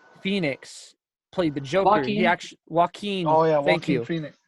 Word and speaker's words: Joaquin: you know and it's just like like how walk on what I can't pronounce his first name Phoenix played the jockey yeah Joaquin oh yeah Thank You Phoenix Joaquin Phoenix kind